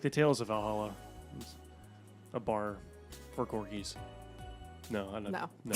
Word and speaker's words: VA-11 HALL-A: hi we're gonna be playing Valhalla which is spelled V a11 space hull - a Virginia 11 poly yes